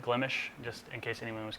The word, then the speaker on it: Glimesh: That is the official way to pronounce it, Glimesh, just in case anyone was curious.